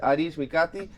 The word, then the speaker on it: Arij Mikati: JP sax our Our Guest this afternoon is adish mikati and she's going to how was the pronunciation did I it up